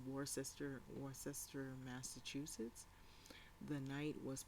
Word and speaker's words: Worcester: unspooled so in the warchester award uh worcester massachusetts it's war sister worcester massachusetts the knight